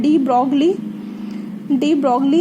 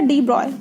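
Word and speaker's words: de Broglie: तो inability to explain पहला क्या था आपका, डी ब्रॉय हाइपोथेसिस, इसको लिखा जाता है डी ब्रॉगली हाइपोथेसिस। ठीक है, प्रोनाउंसिएशन है इसका डी ब्रॉय।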